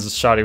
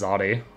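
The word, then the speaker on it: Xoti: I've constantly almost read it as Zodi. Like, it's gonna be Shoddy, started with SH. Makes more sense. You can't just be like, the X is silent and the SH are invisible, but also there.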